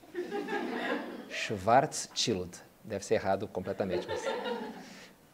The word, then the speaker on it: Schwarzschild: Atenção à pronúncia. Schwarzschild.